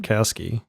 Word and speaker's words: Sapkowski: Sapkowski.